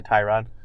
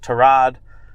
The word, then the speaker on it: Tyrod: gonna default back to tie rod yeah and it's if you didn't if you didn't hear apparently Joel Buitoni Oh revealed that Tyrod Taylor's name is meant to be pronounced to rod but he's never corrected